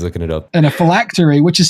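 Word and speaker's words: phylactery: Um, usually felactory. Yeah. No, I can't remember what it means. Oh. Oh, he's looking it up. and a felactory which is spelled p h y l a c t e r y.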